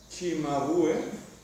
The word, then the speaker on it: Cimabue: La C se pronuncia che en italiano, así que será Cimabue.